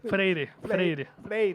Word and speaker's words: Freire: ¿Cómo lo pronuncias? Freire, sí.